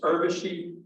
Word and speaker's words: Urvashi: just please all know when you say her name it's like plaid it's urvashi that and you will be in the minority of people saying it like she does so the other thing